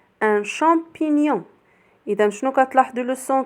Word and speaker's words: champignon: C avec H se prononce ch. Ch avec on se prononce champ comme un champignon.